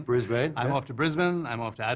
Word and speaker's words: Brisbane: I've learned how to say it. I used to say Brisbane. Brisbane.